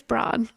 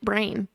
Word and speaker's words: Braun: It's Braun. Yeah. Yes. You said, sure. He gets mistaken for Brown all the time.